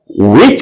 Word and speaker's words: which: याद रहे, हु के साथ H का उच्चारण होगा, विच के साथ फिर नहीं होगा।